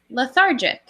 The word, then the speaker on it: lethargic: Lethargic. lethargic? Yes or no? Yes, practice this sound though. TH. The. Lethargic. Good. Lethargic. Yep, and then this syllable is jick.